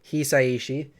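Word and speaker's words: 久石: The composer Joe Hisaishi, it's a little bit, Japanese pronunciation, Hisaishi.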